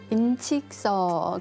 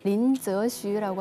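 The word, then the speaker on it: 林则徐: 그 임칙서 그 중국 발음으로 린저슈라고 하는데요.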